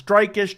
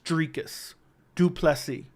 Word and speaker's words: Dricus du Plessis: the last couple months it is streak is duplessy that is how it's pronounced so in case you're ever wondering I am pronouncing it the right way tricus dreikas almost like tree if that makes sense so you don't have to wonder if it's drakeish strikas it's driekus duplessy so just figured I'd uh